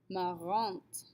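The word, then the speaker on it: marrante: masculine form will be when we add our e to make it feminine though we get marant marante note that unlike elderly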